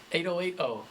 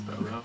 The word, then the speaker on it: Bobo: And then like your true fans like know it's pronounced Bobo, but some people are like, hey, you're an 808. It's like, hey, it's Bobo actually, but yeah.